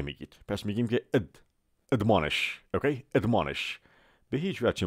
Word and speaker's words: admonish: لغت بعدی ما میگه admonish. اوکی؟ admonish. اما ا نمیگید، ا میگید. پس میگیم که admonish. اوکی؟ admonish. به هیچ وجه ممکن تلفظ admonish یا admonish نیستش.